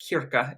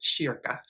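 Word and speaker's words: kyrka: that when I was in Sweden it's not pronounced Kira it's pronounced Shir so she sings in this gorgeous small kind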